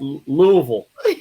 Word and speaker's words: Louisville: say louisville right yeah it might be pronounced in the ville a little bit too much though it should be just louisville oh whoa it's like you gotta say like you got a mouthful of biscuits you know yeah i